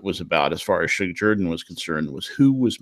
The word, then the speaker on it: Shug Jordan: was actually coined by Suge Jordan, and I love to hear the New York sportscaster say Sug or Shug Jordan. Suge Jordan is how you say it in Auburn, and he coined the term